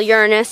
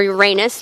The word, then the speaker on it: Uranus: So here would be what we call Uranus or Uranus, depending on how you like to pronounce it.